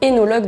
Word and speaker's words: œnologue: qui est très différ l'unologue ou hologue d'ailleurs comme on devrait normalement le prononcer c'est un scientifique d'ailleurs